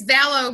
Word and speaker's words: Valleau: from us as guys is the lovely Ville oh is it I did I get that right by the way very close its Bello rhymes with shell oh oh that's right yeah I